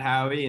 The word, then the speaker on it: Haughey: name is uh howey and howie is spelled e h-a-u-g-h-e-y it's not like phonetic it's spelled kind of weird um but you can